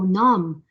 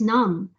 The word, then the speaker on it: numb: another example of a silent B so we learned about lamb and this is nam so the toes are starting to go numb it's very cold that